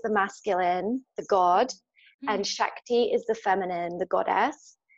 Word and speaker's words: Shakti: Shakti isn't it my saying it right yes Shakti so what what is that so I've never